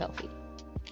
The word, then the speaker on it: Elfie: different pron pronunciation of Elfie or no like two e sounds the same okay so so more like I'm putting an L in there f f I'm